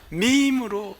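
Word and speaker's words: meme: 지금 이거를 매매나 미미로 읽은 사람들은 청년들과 말할 자격이 없어요. 이거는 우리 학생들은, 우리 학생들 한번 읽어볼게요. 뭐라고 읽죠? 밈으로 읽습니다.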